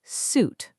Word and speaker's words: suit: It's pronounced suit, like the rhyme with boot, not suit.